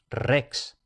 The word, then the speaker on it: rex: Y cuando aparece una sola R al principio de palabra, entonces se pronuncia fuerte como en español Rex.